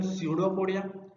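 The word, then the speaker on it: pseudopodia: Actually P is silent, सो उसको बोले कि हम स्यूडोपोडिया।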